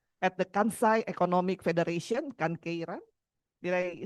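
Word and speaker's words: Kankeiren: Business Creation Platform at the Kansai Economic Federation, Kankeiran.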